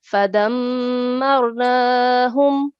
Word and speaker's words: فدمرناهم: So we should pronounce a mushaddad letter with the stress, especially mim mushaddad and noon mushaddad. Okay, so how will we pronounce it? Fadammarnahum.